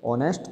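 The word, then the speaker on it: honest: हिंदी में बोले तो एक साइलेंट रस को बोलेंगे कौन है क्या बोलेंगे ऑनेस्ट तो ओके मैं जा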